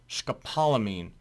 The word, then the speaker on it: scopolamine: Scopalamine. Scopalamine hydro hydro bromide. First word pronounced scopalamine.